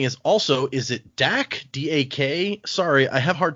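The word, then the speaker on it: Dac: D-A-K? Sorry, I have a hard time hearing exactly what his name is. It is, we call him Dak with a D-A-C, but yeah, it's the same pronunciation.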